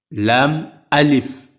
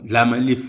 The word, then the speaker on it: لا: Donc il faut dire l'amif et non lame alif lame alif non l'amalif on sent qu'il s'agit d'une lettre mais lâ alif donc c'est effectivement les lettres lâf.